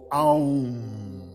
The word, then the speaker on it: Om: Pronunciando corretamente, o Om tem três sílabas e é pronunciado Aum.